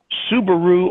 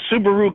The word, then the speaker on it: Subaru: infectious to bring the subaru cars into the united states from japan well it was all good except the guy said man you pronounced it wrong it's subaru what are you talking